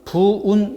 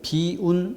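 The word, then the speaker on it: 否運: 부결 여기 비춰서 어 4번은 부은 이라고 읽기보다는 비운 이라고 읽어야 되는 그래서 어 도금의 있어서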